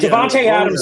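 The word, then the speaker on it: Davante Adams: say no you said you said it right Devonte Adams is Devon because I think that his his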